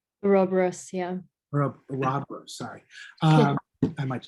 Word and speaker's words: Ouroboros: The right pronounce? Ouroboros, yeah.